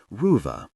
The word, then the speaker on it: Ruva: He was careful to pronounce it correctly, elongating the first part so it sounded like Ruva.